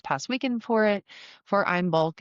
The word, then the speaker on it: Imbolc: Um, it's in its gic form, it's technically more pronounced I'm bulg.